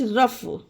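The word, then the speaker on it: rough: ओ यू जी एच रफ रफ means खुरदुरा होता है ओके इसमें देखिए लास्ट में जी एच आया तो इसे भी फा का ही दिया गया उच्चारण तो इसे रफ पढ़ा गया उसी तरह से टी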